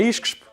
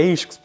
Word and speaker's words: ISCSP: Tentem lá, não é ISCSP, nem é ISCS, é ISCSP exatamente.